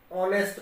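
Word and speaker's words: honest: इसको हम ऑनेस्ट पढ़ेंगे तो एच साइलेंट है, तो ओ की साउंड दे रहा है ये, तो ये भी आपका बाउल ही हुआ।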